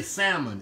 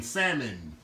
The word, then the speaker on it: salmon: say salmon croquettes but in the country we say salmon s-a-m-o-n salmon i didn't know how to say it right until i really got into the food industry and more professional level salmon it i just think